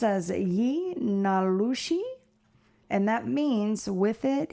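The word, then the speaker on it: yee naaldlooshii: Yeah, I'm going to try, but it's pronounced as ye nalushi and that means with it he goes on all fours.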